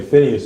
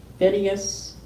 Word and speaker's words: Phinehas: Phinehas, is that how you say it? Yeah, Phinehas.